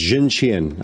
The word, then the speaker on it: Xuntian: You had it correct. It was Zhuntian. I just pulled that up.